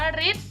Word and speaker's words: ฤทธิ์: เดช อ่าน ว่า ฤทธิ์ เดช ตัว รฤ ตัว นี้ พอ ไป ผสม กับ ทอ ทะ หาน ทอ ทง นะ คะ อ่าน ออก เสียง เป็น ริบ อีก รอบ คือ ริบ โอเค ที นี้ คำ